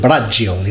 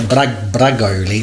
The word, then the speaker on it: bragioli: I spoke to someone earlier and they confirmed it's called Bragioli, not Bragoli or whatever I was calling it, Bragioli. So that's how you actually pronounce that dish, by the way, guys.